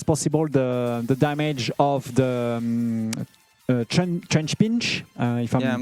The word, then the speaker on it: Trapinch: My aim is to avoid as much as possible the damage of the trench pinch, if I'm pronouncing correctly. Yeah, trapinch.